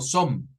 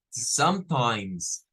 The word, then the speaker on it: sometimes: decir la o redonda No es como som es Z sometimes sometimes y nótese la i verdad la la la i larga y la z al final eh curiosamente aquí la